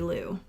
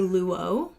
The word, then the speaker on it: Lu: And for the official record, it is Lu. You've heard it here first. Lau. Well, sometimes I say Luo, which is crazy because I say my name is Lu, but when I'm on the phone with people, I'm Luo.